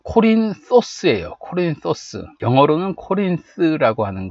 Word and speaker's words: Κόρινθος: 고린도는게 그리스어는 코린토스 그래요 코린토스 번데기 소리를 내 줘야 돼요 코린토스 아니고 코린 소스예요 코린토스 영어로는 코린스 아고